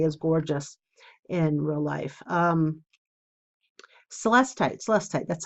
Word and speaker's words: celestite: Celestite, that's how you say it.